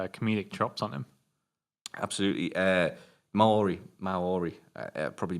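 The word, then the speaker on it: Māori: Maori. I probably mispronounced the hell out of that.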